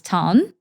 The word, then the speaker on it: Thanh: So my first name is Tan, Tha.